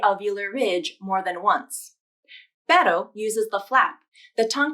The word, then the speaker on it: pero: The R in pero is pronounced with the flap, a single flap of the tongue tip to the alveolar ridge.